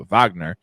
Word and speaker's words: Wagner: found out that it's Vagner it's not it's a w but it's pronounced uh Vagner um he's such a